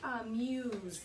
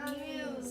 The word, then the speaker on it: amuse: The first word is, everyone repeat after me, amuse. Echo? Amuse. Sound it out if you need to. Amuse. Letter by letter. U. A. M. U. Z. S. E. Amuse. It does sound like a Z.